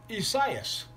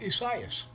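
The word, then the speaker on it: Isaías: and portuguese derivations and is pronounced if i can get it right isaias very simple isaias it's the spanish equivalent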